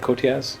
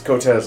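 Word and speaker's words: Coteaz: And is that how you say it? Kotiaz? It's Kotez last I checked. Kotez? Because it's Spanish.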